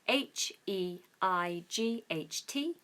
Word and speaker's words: height: and height is spelled h e i g HT and because it's got ght in it it's confusing for everybody but it's very simple height so we just have a diff thong in the middle there